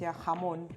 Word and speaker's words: jamón: - Well, for us, "jamón". It starts with a J too, but, well, it's pronounced "jamón".